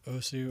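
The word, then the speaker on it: osu!: You could, in theory, use it for games like OSU or OS, I believe it's actually pronounced.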